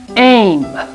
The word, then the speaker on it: aim: Aim. This vowel makes this vowel say its name. Long sound. And this vowel is silent.